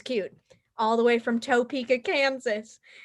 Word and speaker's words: Topeka: she thinks it's cute all the way from topeka kansas it's the very funny jay patterson oh